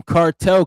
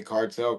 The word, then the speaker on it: Kartal: So I think of Vibes Cartel when you say that. But It's really when you say it like in English, like American, it's cartel, but it's really like cartel.